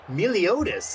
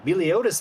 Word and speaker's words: Motus: to be a hit that is mottis I've been saying it wrong this entire time motus Manning with the stop